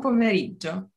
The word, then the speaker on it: pomeriggio: Buon pomeriggio. Oh, once more, please. It is longer. So, buon pomeriggio. Buon pomeriggio. Yes, pomeriggio. Pomeriggio.